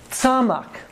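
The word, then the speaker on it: צמח: It's tzamak. Tzamak. This is tzade again. T-S, right? And an M, and then a C-H, like Bach.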